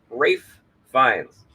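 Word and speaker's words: Ralph Fiennes: need to reiterate that that's Ralph fines who thinks his name is pronounced wraith Rafe Vines uh Ralph finds of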